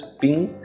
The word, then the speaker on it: PNG: PNG, pronounced as ping portable network graphic, is